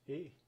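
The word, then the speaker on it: æ: This is pronounced A. Yes, an A and an E after each other in one letter.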